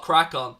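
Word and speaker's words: Craicon: we do have a second channel that's called Crackon. It's spelled C-R-A-I-C-O-N, second YouTube channel.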